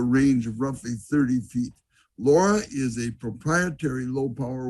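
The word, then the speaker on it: LoRa: transmission signal called and here's the pronunciation laura it's for long range and it uses the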